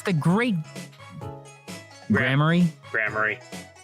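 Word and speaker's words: Gramarye: all the AJ fans like okay so it's pronounced grammar yep gram that's interesting okay so there we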